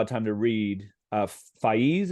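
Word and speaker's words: Faiz: time to read uh fees is how you pronounce the poet spez excuse me spez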